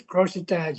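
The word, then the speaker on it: crochetage: It's pronounced as crossetage. Anyway, Crossetage. it depends. A lot of people pronounce it difficulty. It's like a crochet. You're knitting things.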